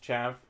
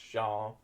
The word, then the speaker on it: chav: just not very nice people and yeah it's pronounced chav some people they read it they think it's pronounced sha sha sha but that's usually posh people I